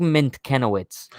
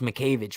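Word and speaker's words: Mientkiewicz: i was like doug mint kenowitz i lo i love names that sound nothing like they're spelled right like how i know it's pronounced mcavig but like how would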